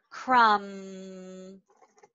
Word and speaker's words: crumb: And if they don't know, again, I'm gonna circle that B. I'm gonna underline this, crumb.